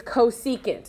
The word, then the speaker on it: cosecant: you look the reciprocal function of sine is cosecant is how you say that you have to